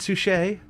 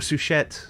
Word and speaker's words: Suchet: No, not David Suchet. Or Suchet. I don't know if you meant to pronounce the T.